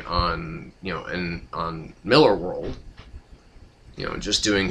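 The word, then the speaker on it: Millar: know so I mean Mark marar or Mark Miller sorry I have to I have to stop calling him that because it's pronounced Miller apparently um you know he's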